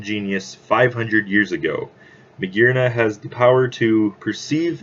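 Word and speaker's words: Magearna: spider-man oh we also got more news on Medina yes that is how it's supposed to be pronounced it is the artificial Pokemon it is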